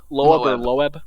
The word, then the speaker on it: Loeb: the guy's name obvi is it avi leb is that how do you say it uh lo loeb yeah he he's he's like